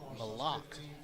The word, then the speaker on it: Malak: Or Malak, not Malik. Malak. Once again, going to Dr. Modal on the pronunciation there.